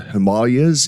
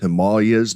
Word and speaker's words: Himalayas: can tell you that in India, it is pronounced Himalayas, not Himalayas. That's how we pronounce it here in the West. But if you're there, it's the Himalayas.